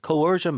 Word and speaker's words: coercion: coercion 발음이요.